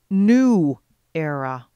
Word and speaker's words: New Era: I never heard back from New Era and only now realize that the proper pronunciation of the name is New Era.